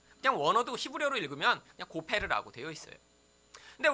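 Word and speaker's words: גֹּפֶר: 그냥 원어도 히브리어로 읽으면 그냥 고페르라고 되어 있어요.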